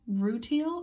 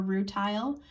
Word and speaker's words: rutile: our titanium oxide mineral rutile or rutile either pronouncing is just fine um out of all